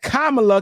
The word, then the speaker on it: Kamala: name would be Kamala she said Kamala cuz that's how you would pronounce it in the in in in the Indian culture right so so so